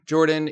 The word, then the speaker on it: Jorphdan: Hello everybody, Jordan here, the PH is silent.